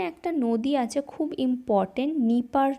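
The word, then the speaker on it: Dnieper: ওকে, এবং এখানে একটা নদী আছে খুব ইম্পর্টেন্ট, নিপার নদী, এখানে ডিটা সাইলেন্ট।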